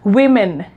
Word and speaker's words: women: pronounce it right so the right way to pronounce it is women we min right so this is it and